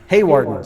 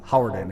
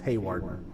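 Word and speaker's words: Hawarden: Haywarden, Zach Anderson, telling me that I mispronounced the city of Howarden. It is Haywarden.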